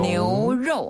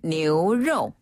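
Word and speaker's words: 牛肉: 뉴로 하면은 소고기.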